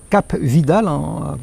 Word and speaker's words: Cap Vidal: On peut monter jusqu'à un endroit qui s'appelle Cap Vidal, prononcé à la française.